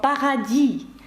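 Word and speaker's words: paradis: легко запам'ятати салю Привіт є красиве слово пагаді пишеться з літерою с наприкінці це приголосна вона не вимовляється і пагаді французькою -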